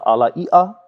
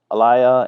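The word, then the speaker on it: alaia: do I say uh so there are Hawaiian who call it the AL um there's people called alayia and then some people call the Ala which is that's a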